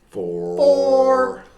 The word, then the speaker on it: XFORE: So 4 is spelled FORE, like as in golf, like four.